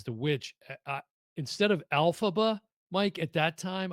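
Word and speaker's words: Elphaba: uh instead of alphaba Mike at that time I said alalfba like alalfa like I I just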